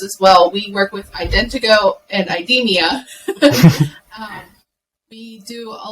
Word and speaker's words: IdentoGO: the company that you work with I would mispronounce it it's Indigo Indiegogo okay you're close Morgan do you want